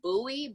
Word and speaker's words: Bowie: a quick little correction my last name is pronounced buoy but it's totally okay we live in Minnesota we all know David Bowie so usually say Bowie but my name is Bowie and I just want